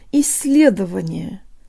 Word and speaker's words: исследование: half of this word for the soft L let's borrow from Welsh I believe there's this really cool double L sound they have it's like